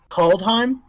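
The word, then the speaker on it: Kaldheim: very first set is called call time yeah call time um call is spelled k a l d h caldheim um the set symbol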